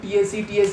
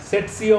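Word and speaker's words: tsetse: হ্যাঁ, মানে মনে রাখ, টিএসি ফ্লাই, সিসি ফ্লাই। উচ্চারণটা কিন্তু টিএসি নয়, ইটস সিসি, সিসি ফ্লাই। সেটসিও বলে অনেকে, অনেকে অনেক কিছু বলে, বাদ দিয়ে তো সিসি ফ্লাই বলবো আমরা।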